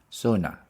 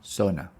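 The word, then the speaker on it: sauna: go to the SAA Sona SAA the stress is on the first one Sona the next one we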